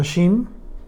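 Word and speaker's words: שים: Es la palabra sum que se pronuncia shim, y esto indica poner o ubicar a una persona o un objeto en un lugar.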